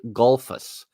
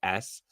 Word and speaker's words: Gullfoss: Oh gosh, it looks like Gulfus, but it's not said that way. So Gullfoss.